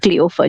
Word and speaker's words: Cleofa: Okay, it's not French really, it's just pronounced Cleofa, just as it's spelled.